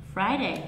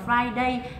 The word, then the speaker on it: Friday: cũng biết đúng không Chỉ cần nhớ là gì không đọc là Friday Bởi vì khi đọc là Friday là a a có nghĩa là mình đã nhấn vào hai cái âm tiết này như nhau trong khi là thực